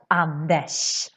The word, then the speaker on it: Anders: So this is super important, because in Swedish, Anders is pronounced as Anders. Sh. It's more like a sh sound.